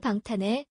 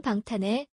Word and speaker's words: 방탄의: The Korean possessive form 의 is often pronounced as 에. So, it's 사랑하는 방탄에. 사랑하는 방탄에.